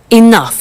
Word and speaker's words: enough: now this word enough enough it's written e n o u g h the pronunciation is enough what does it mean